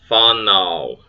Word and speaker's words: whanau: Whanau, offspring. An A sounded as an in father.